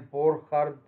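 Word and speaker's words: Burchard: بعد كده اخر تيست عندي اللي هو الليبرمان بورخارد، بورخارد تيست، ده راجل الماني، ليبرمان وبورخارد دول اتنين علماء المان، فعشان كده السي اتش بتنطق خ، بورخارد تيست للسترويدال نيوكليس، للشكل الايه، الاسترويدال نيوكليس اللي هي تحت اللاكتون رينج.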